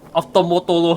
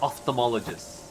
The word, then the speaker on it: ophthalmologist: Optomotolo, hello moto, yes. Ophthalmologist. Actually, it's pronounced ophthalmologist.